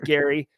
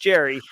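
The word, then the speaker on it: Gerry: my name's actually Jerry I know it looks like Gary but it's pronounced Jerry um you know not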